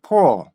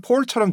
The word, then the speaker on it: pull: 그래서 이 단어를 보면은 포 이렇게 발음이 되거든요. 약간 폴처럼 들리기도 하죠. 그죠? 그런데 완전히 폴은 아니고요. 그렇다고 해서 풀 이것도 아니에요. 그 중간에 뭔가가 있는데 그게 왜 이렇게 소리가 되는지를 제가 알려드리도록 할게요.